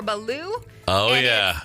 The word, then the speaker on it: balut: This is one that my Navy buddies have told me about, so you're going to find this overseas, and I believe it's pronounced balut or baloo.